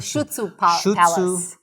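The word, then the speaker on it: Șuțu: Shutsu Palace Yes.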